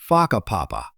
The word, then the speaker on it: Whakapapa: You'll hear locals casually talking about places like Whakapapa, pronounced Whakapapa.